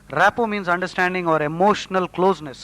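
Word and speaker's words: rapport: greedy and plundering rappo r-a-p-p-o-r-t the t is silent rappu means understanding or emotional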